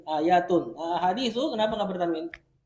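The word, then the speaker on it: آيَةٌ: Yang benar bertanwin, ayatun.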